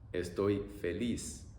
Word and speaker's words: estoy feliz: Estoy feliz. Estoy feliz. E-oi-e-i. E-oi-e-i.